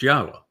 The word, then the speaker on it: Yahowah: Now imagine the single most important discovery that I made along the way is to prove that Yahwa's name YHWH is pronounced Yahwa.